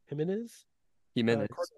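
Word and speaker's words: Jiménez: with which is this himz himene himz himene empis emphasis there's an accent on the E that's where you're supposed to put the accent jimz yes jimz Jim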